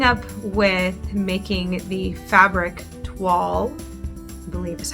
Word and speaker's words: toile: we are picking up with making the fabric wall is how that's pronounced and admittedly um this will be the